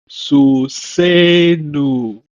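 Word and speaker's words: סוסנו: For our horse, Su Se Nu. Susenu is stressed on the linking vowel.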